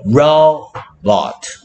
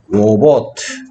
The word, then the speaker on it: robot: 얘는 힘센 소리가 나고 얘는 힘 빠진 소리가 나기 때문이야.